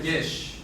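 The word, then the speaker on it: יש: Esta palabra se pronuncia yesh. No es yes del inglés, sino yesh.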